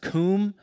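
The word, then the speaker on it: קום: standing position the hebrew word is um it's pronounced comb and it literally means to become powerful or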